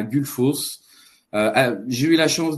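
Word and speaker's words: Gullfoss: les cascades de que j'ai peur de de prononcer gulfos c'est correct gulfos tout à fait ça dans le cercle d'or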